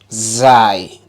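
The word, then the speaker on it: ز: got wrong don't cheat which letter is that without your tongue remember Z that's perfect what about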